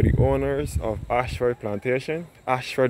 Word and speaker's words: Ayshford: Ashford is spelled A-Y-S-H-F-O-R-D.